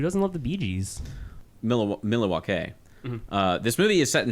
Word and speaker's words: Milwaukee: Oh, another, like, one of the great lines is, actually it's pronounced Milwaukee, which is Algonquin for the good land.